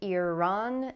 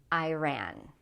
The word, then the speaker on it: Iran: The same thing with Iran and Iran, okay?